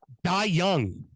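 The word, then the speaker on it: Dai Yong: but current owner Sam would you like to pronounce his name um D Young D young is how you pronounce it it's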